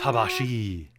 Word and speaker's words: tabaxi: the tabaxi, which are Which there are weird ways to pronounce that, like the Yeah. tabashi. I think it depends on if you decide to go with a hard or a soft X sound.